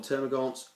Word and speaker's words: Termagants: I've heard them pronounced a million ways. Personally, I call them Termagants, even though the spelling does not allude to that.